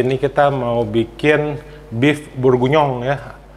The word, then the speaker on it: bourguignon: kita mau bikin beef burgunyong ya susah banget namanya burgunyong ya tulisannya bor guignon gitu ya tapi itu bahasa Perancis jadi bacanya nah atau bahasa Inggrisnya itu